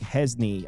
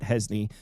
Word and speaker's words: Hejny: So there was speculation that Oklahoma State's original starting quarterback, Hesny, I think that's how you say it, Hesny. It's spelled Hejny.